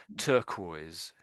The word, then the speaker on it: turquoise: Turquoise, turquoise. Yes. So I think your generally your R's are a bit too strong and sort of the sort of rhotic, a bit sort of drr.